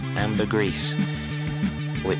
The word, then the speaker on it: ambergris: faintly smells of ambergris can you spell that but pronounce that amber grease we all know is